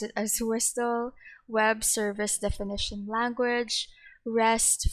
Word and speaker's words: WSDL: SOAP for Simple Object Access Protocol, Wsdl, I pronounce it as Wsdl, Web Service Definition Language, REST for Representational State